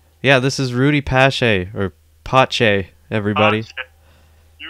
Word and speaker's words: Pacé: And as soon as they see that accent, they're going to know it's not pronounced Pace.